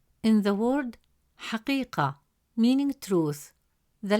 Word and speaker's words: حقيقة: As a result, the correct pronunciation of the word is كبير, كبير. Third example, the word حقيقة. In the word حقيقة, meaning truth, the letter قاف has a kasra